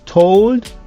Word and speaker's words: told: Et puis, told.